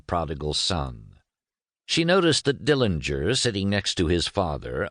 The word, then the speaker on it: Dillinger: Dillinger, he pronounced the name with a hard G in the German style, was an unemotional, somber